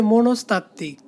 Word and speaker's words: মনস্তাত্ত্বিক: এটার উচ্চারণ হবে মনস্তাত্ত্বিক।